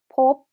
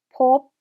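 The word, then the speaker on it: พบ: 네, 다음 단어는 법, 법, 법 하고 발음하고요.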